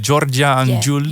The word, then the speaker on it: Giorgia Angiuli: Is it Giorgia Angiuli? Yeah, the best pronounce ever.